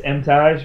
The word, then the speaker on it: Emtage: If I'm in Canada, it's Emtage because they pronounce it as the French would. Okay. Otherwise, it's Emtage.